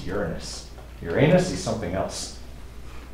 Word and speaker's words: Uranus: able to record with Uranus by the way that's how you pronounce it okay it is not your anus okay it's Uranus Uranus is something else